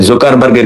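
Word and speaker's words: Zuckerberg: আগে মামলাটা করতাম যে এই জোকারের বিরুদ্ধে এই জোকারবার্গের বিরুদ্ধে আমি ওকে জোকার বলে জোকার ওর নাম হচ্ছে একচুয়াল উচ্চারণ হচ্ছে ইয়াকারবার্গ ইয়াকারবার্গ জাকারবার্গ ওর উচ্চারণ ওর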